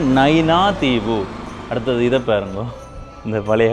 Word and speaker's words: நயினாதீவு: நிறைய இசைக்கருவிகள் அப்படியே வாங்கோ நைனா தீவு சரியான உச்சரிப்பு நைனா தீவு அடுத்தது இதை பாருங்கோ இந்த